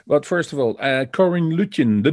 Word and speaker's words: Luetjen: That's pretty much everybody calls me, because nobody can say Luetjen. It's loot like money, chin like chin.